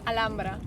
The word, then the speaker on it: Alhambra: Actually, Alhambra we say in Spanish Alhambra. You see, the red Like color, H, it you call doesn't rojo, pronounce.